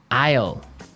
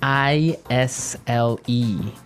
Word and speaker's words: aisle: our second word now Isle I all eh i SL e io io it's a tricky word it sounds like the contraction of I will yeah but it's spelled